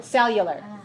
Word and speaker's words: cellular: u L a are how many syllables are there in cellular so you learn 3 3 stress the first one cellular okay so the whole